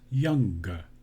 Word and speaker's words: younger: superlative so young becomes younger i add a g into the word you hear the extra syllable g young young guest similarly